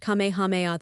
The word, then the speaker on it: Kamehameha: When Kamehameha, pronounced Kamehameha the Great, who was a sort of a